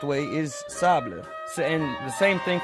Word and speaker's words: table: word so here's the example szabla table is pronounced Sabich by some people but the correct way is table so and the same thing for saber like